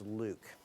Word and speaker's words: LIWC: Inquiry and Word Count, LIWC, which we pronounce Luke.